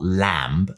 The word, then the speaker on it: lamb: I might say remember it's not lamb like lamp it's Lamb with a silent B you might start associating